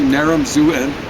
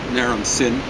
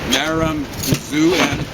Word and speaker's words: Naram-Sin: Actually, Naram-Zuen, or as they mispronounce it, Naram-Sin. It's Zuen, okay?